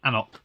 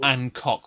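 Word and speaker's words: anCnoc: and I got the anoc you did which is spelled differently to how it's um said as well ank KN yes not ancock which I used to get really badly wrong another tangent shopped yes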